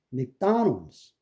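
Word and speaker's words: McDonald's: 뭐냐면 맥도날드스, 맥도날드스. 이게 MAC의 액센트가 없으니까 슈아가 돼가지고 약하게 짧게 그 다음에 액센트가 있는 단은 정확히 맥도날드스 이렇게 강약.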